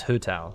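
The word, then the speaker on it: Hu Tao: but her chinese name is pronounced like who okay so it's hutau all right well good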